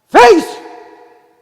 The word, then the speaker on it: Faith: Faith! 믿음이에요. 발음 조심해야 돼. 이게 영어권 애들은 내가 face 그러면 F-A-T-H 발음을 제대로 못한다고 제가 흉을 보는 거예요.